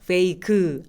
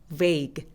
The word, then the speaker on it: vague: 그래서 소리만 살짝 내주세요. vague 안 돼요. vague 이렇게요.